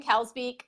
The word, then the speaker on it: Kalsbeek: but a my say is your last name Cal's be am I saying that correctly yeah okay I thought I